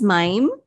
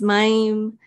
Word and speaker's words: Mayim: much for having me so my name is mime um it's kind of hard to pronounce um so my name is mime um i'm 42 years old um i have